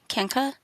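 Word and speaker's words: Kanka: It's spelled K A N K A, like Kena.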